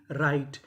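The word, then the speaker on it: write: अगर आर से पहले डब्ल्यू लिखा है तो हमें डब्ल्यू का उच्चारण नहीं करना। जैसे डब्ल्यू आर आई टी ई राइट।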